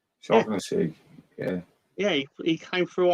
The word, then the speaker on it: Shaughnessy: taught me how to pronounce his name earlier. Shaughnessy. Shaughnessy.